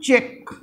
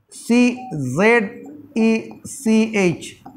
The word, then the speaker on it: Czech: t-r-i-a Austria Austria Austria number check Republic check c z e c h Czech Republic r uh r